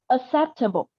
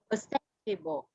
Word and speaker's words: acceptable: So in this one, you need to focus on compromise, on pronouncing, saying compromise or acceptable. Acceptable. Can you say Acceptable. Ac- Trọng âm rơi vào set rồi em.